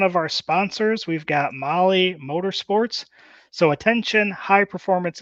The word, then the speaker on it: Mahle: Again, Molly is spelled Mahle.